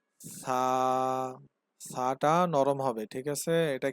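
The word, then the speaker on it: ث: বা, তা, সা, সা। সা উচ্চারণের সময় জিহ্বার আগা সামনের উপরে দুই দাঁতের আগার সাথে লাগিয়ে দেবেন।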